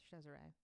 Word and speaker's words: Cesare: way oh yeah but in the italian form it's pronounced cesare that's interesting anyway there was a rumor that cesare and lacrezia were sleeping